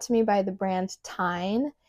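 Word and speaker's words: Tijn: This purse was sent to me by the brand Tyne. It's spelled T-I-J-N.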